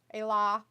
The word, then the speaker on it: Ayla: this year oh wow i know how ayla is actually pronounced a law but the people i associated with back then weren't exactly smart everyone still pronounces my name with a long l sound how is that possible